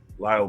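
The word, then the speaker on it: Lael: As Biden's health declined, senior advisors like Jake Sullivan, Steve Ricchetti, and Lyle Brainard, that's how you pronounce it, Lyle Brainard, frequently filled in for the president during important interactions.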